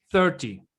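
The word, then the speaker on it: thirty: 30. Es como si fuera una E, en vez de una I, que fuera una E.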